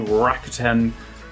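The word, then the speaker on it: Rakuten: Um, and then so in the UK it's on so Apple, so iTunes, Amazon, uh, Virgin, Sky, Rakiten, that's how you say it.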